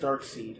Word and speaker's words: Darkseid: So, with Darkseid, yeah. So, he wanted to kill off Batman in the second movie. It's pronounced Dark Seed.